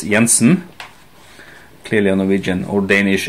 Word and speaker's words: Jansen: well CH Jansen is well probably it's pronounced CH Jansen but this is Norwegian so it's yansen clearly a Norwegian or